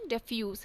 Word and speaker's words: defuse: किसी भी सिचुएशन को कम टेंस बनाना को हम क्या बोलते हैं, डिफ्यूज, DEFUSE। अब यहाँ पे दूसरा भी वर्ड है जिसको हम डिफ्यूज प्रोनाउंस करते हैं, वो है DI, नो आप